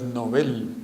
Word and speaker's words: Nobel: ahora entre otras cosas la pronunciación correcta es novel no hablemos del nobel